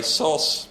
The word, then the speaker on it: SOS: SOS I'll call in SOS and an SOS report other people say sauce that's fine if you do that I gave up on